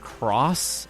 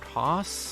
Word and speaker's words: Coss: See, if I became a doctor, though, people would mispronounce my name as Cross instead of Coss.